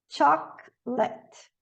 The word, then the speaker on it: chocolate: chocolate, Chocolate. Chocolate. E final também não.